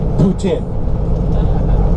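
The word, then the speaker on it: poutine: about the great white elephant on this bus Putin it rhymes with selin comfort food is all about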